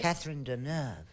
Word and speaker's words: Catherine Deneuve: Catherine Deneuve.